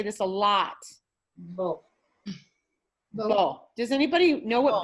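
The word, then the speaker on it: בוא: So it takes O sound. Ba. O. This is silent. The A is silent. It just goes. It's married to the cholam.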